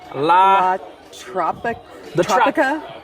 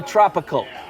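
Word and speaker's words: La Tropical: La Tropica? No. Well, a redneck's prosperity. It's the tropical.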